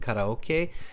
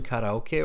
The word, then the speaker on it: karaoke: And the Japanese will pronounce it karaoke. In English, we'll use both. We'll use the original pronunciation, karaoke, or we'll say karaoke.